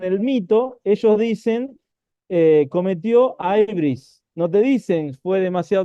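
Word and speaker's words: hybris: pecado que se llamaba Aibris, ¿sí? Este pecado de Aibris se escribe con H-Y, si lo quieren buscar. Sí, sí, ibris, sí, Sí, alguien podría decir ibris. sí, Aibris, dicen ellos.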